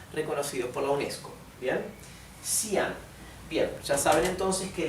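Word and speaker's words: Xi'an: por la UNESCO bien sian bien ya saben entonces que la x se pronuncia s sí la y se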